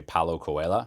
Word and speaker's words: Paulo Coelho: That's from the book, The Alchemist by Paulo Coelho.